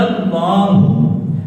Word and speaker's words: اللہ: بچہ کہاں کیسے بولنا، اللہ کا نام کیسے بولنا؟ اللہ۔ ہاں جی، اللہ نام کے اوپر کھڑی زبر ہے، آخر پر ہا ہے،